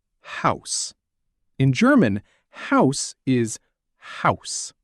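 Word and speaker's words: Haus: In German, house is house. House sounds like house, but a tiny bit different.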